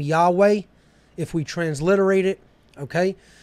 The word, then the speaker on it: Yahweh: another H so YHVH gives us the name Yahweh if we transliterate it okay and that is